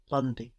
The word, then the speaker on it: lundi: So we have L-U-N. This UN is like in un peu, no, lundi, D-I.